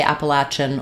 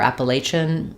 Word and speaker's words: Appalachian: say you can say Appalachian or Appalachian um Appalachian with a sh sound or a CH sound so there's a variety